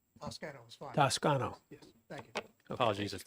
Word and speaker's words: Toscano: for Toscano please please correct me on the pronunciation of your name Tas tsano yes thank you apologies if there was a